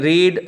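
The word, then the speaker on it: read: है वही होते हैं रीड रेड पढ़ते रहते हैं लेकिन स्पेयरिंग सेम रहते हैं तो रीड की थर्ड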